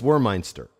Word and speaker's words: Wormeinster: know as thuck warminster or warminster war my war Meister or meinster well phonetically for noah clay it's war meinster I just I just